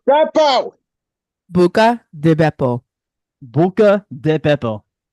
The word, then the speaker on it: Beppo: Buca di Beppo. Buca di Beppo. The Beppo. B-E-P-P. Not Peppo. You're talking like Peppo Bismol. Buca di Beppo. Two B's.